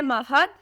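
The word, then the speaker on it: Mahad: है जिंदगी नाम है महद बहुत खूबसूरत नाम है स्पेलिंग है एम ए एच एडी महाद नाम के माने है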